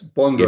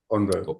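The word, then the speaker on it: Bonnevaux: Is that Bonneau? Yes, Bondo. It is. Bondo, yeah.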